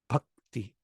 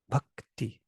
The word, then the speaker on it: bhakti: pattern this one too bhakti why is the taking a long time it's a short vowel but it has two consonants after it k and t that's interesting here's a k and t together bhakti so this is making